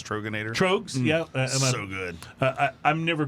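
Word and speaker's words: Tröegs: Trogs, yeah. So good. I'm never good with these. It's Troegs, right? Yeah, Troegs, which is kind of like a troll or an elf name.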